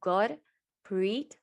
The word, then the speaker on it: Gurpreet: myself my name is gurpreet my name is my name is actually pronounced god preet preet like pretty and it means god's